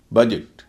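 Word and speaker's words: budget: बजट दो syllable का शब्द है, पहले सिलेबल में यू है और उसके दोनों तरफ कॉन्सोनेंट है, उच्चारण हो रहा अ।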